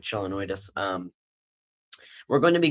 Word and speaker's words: Chelonoidis: go through um uh the kelenoidis or chelanoidis, however you want to pronounce it. Um I personally pronounce it like chelanoidis.